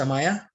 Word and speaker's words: Amaya: you can think better my name is not pronounced like that okay it's amaya okay let's check the